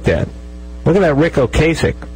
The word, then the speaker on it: Ocasek: look at that Ric Ocasek there's now known Ric Ocasek although it was okay sick for like 25 years by the way